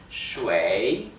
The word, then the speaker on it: 水: Bien, como verán, si prestan atención a cómo lo pronuncio, lleva el tercer tono, o sea el tono descendente y ascendente. Shui.